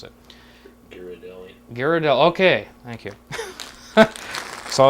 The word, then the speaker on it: Ghirardelli: I'm not exactly sure how you pronounce it. Ghirardelli.